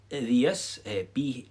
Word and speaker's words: bhios: And that's spelled this way, vias, BHIOS, or sometimes you'll see it in a more emphatic form, kunye vias, BHITHEAS, okay?